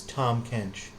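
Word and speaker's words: Tahm Kench: that's fine um but they changed the pronunciation they added a little H it's it's Tom kench which sounds like a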